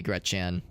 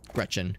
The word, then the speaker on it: Gretchen: not in the kitchen you got me gretan Gretchen gret gretan why did I pronounce it that way so this is a